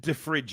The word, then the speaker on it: De Vrij: Ollie, I'm not pronouncing it De Vrij. I'm calling him De Vries. Listen with your ears, Ollie. It's De Vrij. Or De Vrij, whatever it is.